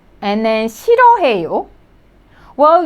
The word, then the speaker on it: 싫어해요: Well, you could see the first syllable. It has more than 3 consonants. Okay, so 시 and then 르 sound and H sound. But this one, H sound doesn't sound. So it is like 실.